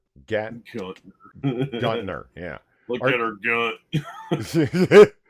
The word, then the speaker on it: Gantner: This is a conceptual art project by Praxis, curated by Valley Joe Guntner. Gantner, yeah.